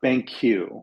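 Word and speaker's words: BanQ: really interesting stuff and it's called Uh Bank Q which is spelled b a n qu thank you um they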